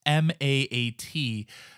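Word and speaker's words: Maat: heart is weighed against the feather of mat I know I sound like a goat there it's ma a doing my best on pronunciation but it's the goddess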